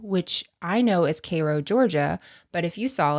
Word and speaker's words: Cairo: which I know is Koo Georgia but if you saw it or somebody else they would say Kyo so if you said Cairo everyone in Cairo would be like you're an idiot Soo in Egypt right